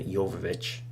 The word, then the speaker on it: Jovovich: new Resident Evil film, and not the Mila Jovovich, that's how you say her name, not those films, but another CG movie, which again is going to star Leon.